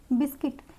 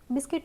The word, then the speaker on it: बिस्किट: बिस्किट यह हम बिस्कुट नहीं पढ़ते हैं। बिस्किट होता है।